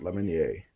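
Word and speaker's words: Lemonier: your lemony a that's how you say it lemon yay so that's all my pick their mug subscribe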